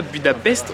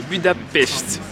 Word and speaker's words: Budapest: Parce qu'on ne dit pas Budapest, on dit Budapest.